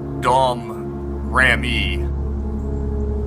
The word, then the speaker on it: Domrémy: During her lifetime, the small village that she grew up in, you pronounce it Domrémy, was actually more of a territory of France.